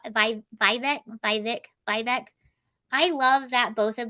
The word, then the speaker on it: Vivek: mistake though by vague Vivek rhymes with cake I'm probably gonna say